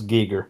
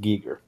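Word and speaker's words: Giger: didn't mind people think Geiger but he would it's a he technically did say his name was technically pronounced Gieger okay I've loot so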